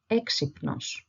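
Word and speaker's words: έξυπνος: e then we have two consonants next to each other p and N so P okay o and S so alt together it sounds like exypnos exynos it means to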